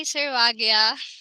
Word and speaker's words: Sarwagya: name here we go hi servagea i really pronounce my name correctly yeah oh thank you